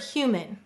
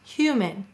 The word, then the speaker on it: human: we have the word human notice the a is unstressed human it sounds like an I so we would say